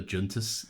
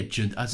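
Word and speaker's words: Joonas: took over Chewbacca the junus man oh he's definitely Scandinavian junus yeah oh yeah Jun as if I just pronounced the Jay I know you always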